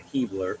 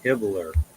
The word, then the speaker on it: Hibbler: It's not Hebler. It's Hibbler. Hebler, sorry. It's Hibbler, I believe.